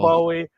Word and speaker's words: Bowie: Yeah, it's neither Oh Bowie nor no, Bowie. Apparently, their name is Bowie. the way the Bowie family pronounces it is Bowie.